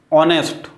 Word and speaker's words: honest: ये ऑनेस्ट, ऑनेस्ट, HEIR, एयर, एयर, है ना, हेयर नहीं। HOUR, हर नहीं, और HONOUR, ऑनर, ऑनर, ऑनरेबल, ठीक। तो ये ऐसे वर्ड हैं जिनमें H साइलेंट होता है, ये ध्यान रखना।